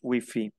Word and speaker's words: Wi-Fi: Le Wi-Fi, on prononce Wi-Fi.